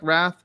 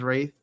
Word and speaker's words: Wraith: i think it's i it looked like wrath but then the the voice over actor actress said it is wraith so yeah that's that's why i started pronouncing it right i was i was pronouncing it wrath but we should ask